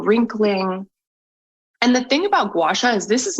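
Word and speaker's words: gua sha: go and just Dive Right In and start gacha is that how you say it yeah that's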